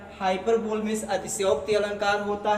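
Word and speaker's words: hyperbole: दूसरा आपका ये आपका हाइपरबली हो जाएगा। आज तक अगर आप पढ़ते आए होंगे इसका गलत प्रोनाउंसिएशन करते आए होंगे, हाइपरबोल बोलते आए होंगे, तो हाइपरबोल नहीं होता, हाइपरबली होता, राइट प्रोनाउंसिएशन हाइपरबली।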